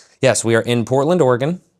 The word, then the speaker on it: Oregon: So yes, we are in Portland, Oregon. That is how you say it, because I got corrected in an Uber last night for saying Oregon.